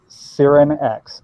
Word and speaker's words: Cyrinex: Aaron pronounces it his. So I call her Cyrin X.